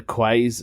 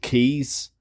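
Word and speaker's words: Quays: he said you was it was in the quaz he said I had to pause the podcast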